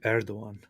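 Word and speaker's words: Erdoğan: It's Recep Tayyip Erdogan.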